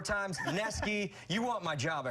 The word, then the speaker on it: Wisniewski: Wisniewski, it's spelled Newski, but he's corrected me 4 times. Neski, you want my job.